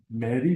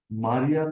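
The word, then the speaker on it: Marie: you mentioned a biscuit a marry biscuit I have been pronouncing it Maria throughout yeah even the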